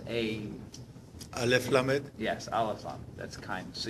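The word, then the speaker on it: אל: kindness the the uh say k but it's pronounced a Al yes Al that's kindness so you have kindness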